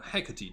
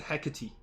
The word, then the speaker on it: Hecate: what he said huh she said Hecate he didn't say Haggerty oh hey hey Katie is like uh I think that's how you pronounce the name uh uh old uh